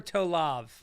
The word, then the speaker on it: Tolev: People say tov or tolav. Toev. You said it correctly the first time. I did. Right. But do people mispronounce it on stage? Sometimes. Doesn't make any sense. It's so easy. Tov.